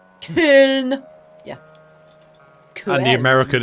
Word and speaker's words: Köln: Or just Cologne. I know it's Köln. Köln.